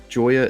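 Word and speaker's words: Gioia: If you haven't read Ted Substack, Joyer is spelled G I O I A.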